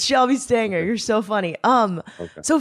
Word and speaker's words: Shelby Stanger: How did you just say my name? That was so funny. Wow. It's not Stranger, is it? It's I always not. called It's you not Stranger. Stranger. It's Shelby Stanger.